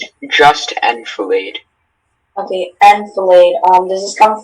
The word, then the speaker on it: enfilade: The general scattered his troops in an enfilade. Okay. And can I have the word? Can I have the alternate pronunciations, please?